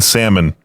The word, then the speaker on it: Salmon: Oh, somebody's correcting the post by saying the L is silent in Salmon, pronounced salmon.